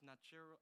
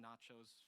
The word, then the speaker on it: Niarchos: It's like Stavros Niarchos I always say the name wrong. I say like Stavros Nachos Foundation, but like it's uh right there on North Ave, Charles You know, Station North.